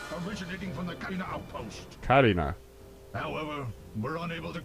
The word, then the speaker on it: Katina: from the clean Outpost Karina however we're unable to I always pronounce it uh Katina yeah it's probably yeah no problem no that's how General pepper pronounced that I'll head to the